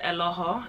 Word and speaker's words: Eloho: ask me that - it's actually pronounced Aloha in my native tongue its Nigerian but most you guys